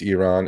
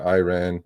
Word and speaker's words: Iran: It's Iran. It's not Iran. Please just say it correctly.